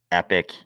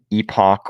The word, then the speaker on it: epoch: makes people really mad I like to pronounce it epic epic which I believe is probably the wrong pronunciation um I don't think